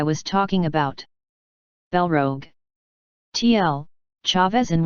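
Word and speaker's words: Chaves: talking about Rogue TL Chavez in one is pronounced chavezi it's a real town in Portugal by the way chapter 346 181 spies -1 part 2.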